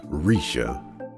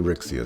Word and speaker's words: Rixia: Technically pronounced Risha, but I think Rixia sounds a little bit cooler.